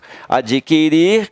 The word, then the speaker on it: adquirir: Mas o U não tem som, ó, tá? O U não tem som. O U só tem som quando você fala errado. Se você disser distinguir, aí você pronuncia o U, mas está errado essa forma. É distinguir, adquirir e extinguir.